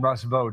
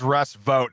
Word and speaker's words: Russ Vought: I guess it's Russ Vought is how it's pronounced.